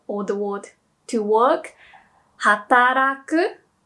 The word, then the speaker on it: hataraku: Yeah, so or the word to work, hataraku. Some people say it like hatadaku. So it's a D sound, but people do understand it.